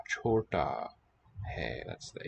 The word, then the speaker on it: छोटा: So this first looping sort of hanging monkey shape, that's the consonant ch. Then the combination of the full length stem here and the one antenna signals that it's an oo vowel sound. Then we get another consonant letter d, and there just the stem there hanging down shows it's a long ah.